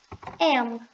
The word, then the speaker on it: am: o i é o am am gente p uma dica aqui de pronúncia é você fechar a boca quando você terminar de falar o m m Você fecha a